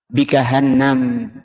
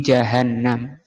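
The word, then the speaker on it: جهنم: dari kata jahanam sehingga ada orang baca bahanam asal katanya tapi kita bacanya harus seperti ini Bi jahanam yaumaidin pada hari itu ketika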